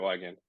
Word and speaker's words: Wiegand: Wiegand, is that how you pronounce the last name? Yeah, that's right, Wiegand.